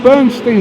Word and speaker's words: Bernstein: Is it Bernstein or Stein? It's actually Bernstein. Yeah. Although I think I should be pronouncing it Bernstein. Like Leonard Bernstein pronounced it Bernstein, but my family apparently did it wrong.